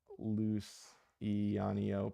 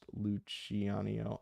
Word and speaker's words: Luciano: Not loose eanio pronounced luchanio.